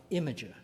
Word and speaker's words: Imgur: that he put on imager or you know it's spelled Imgur but of course it's pronounced Imager an imager does not